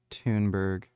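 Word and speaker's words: Thunberg: It's pronounced Tunberg.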